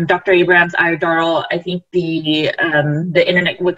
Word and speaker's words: Iodoral: Abraham's iodoral, I think the internet would kind of got choppy, so I just wanted to reiterate the word. So it's iodoral, is that correct?